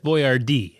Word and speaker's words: Boyardee: boardi Hector boardi and he wanted people to say his name right so that's why it's spelled Bo y a rde